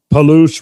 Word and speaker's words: Palouse: Palouse rhymes with caboose. Perfect. Palouse the caboose.